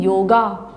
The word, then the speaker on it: योग: अभी योग दिवस मनाया, वहीं योगा आ करके पूर्ण आ बोलते हैं, जबकि क्या है वह योग, ग में अ, ग कंठ से बोलता है, उसमें अ की साउंड निकालने के लिए कंठ को खोलना होगा।